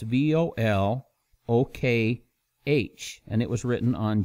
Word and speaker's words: Volokh: It's Volokh.